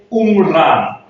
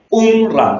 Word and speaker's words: Umran: Entonces, acá aparece la idea de prosperidad que se escribe Umran, U con acento, M-R-A-N. Umran, tiene dos acentos, en la U y en la A.